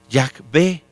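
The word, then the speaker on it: Yahweh: Yahvé, más o menos así se pronuncia.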